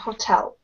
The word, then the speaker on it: hotel: Смотрите, в принципе, первое замечание – hotel, на второй слог ударение – hotel.